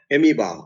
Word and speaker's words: amoeba: Or amoeba, OE, amoeba. OE also gives us a long sound, long E.